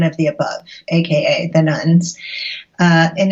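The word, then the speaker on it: nones: So the nuns, and that's spelled N-O-N-E-S, not nuns like Catholic nuns.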